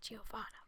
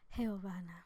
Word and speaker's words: Giovanna: In English I say Giovanna, but in Spanish it's Giovanna.